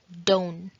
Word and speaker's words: don't: So, don't के अंदर जो T है वो silent हो जाएगा and it would be like don't, don't.